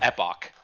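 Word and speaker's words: epoche: spelled like you'd spell Epoch right e p o c h Accent on the E so it's Greek so it's EPO is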